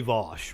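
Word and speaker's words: Vaush: It's legitimately Vosh, right? That is the correct pronunciation.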